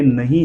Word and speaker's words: know: गया है, लेकिन के को हम क पढ़ते नहीं हैं और उसका रूल्स क्या है वो देख लेते हैं। जब कोई भी स्पेलिंग में के एन का कॉम्बिनेशन आए, अगर